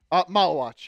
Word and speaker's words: Maluach: Is it soft C or hard C? Maluach? Maluach, yeah. Maluach.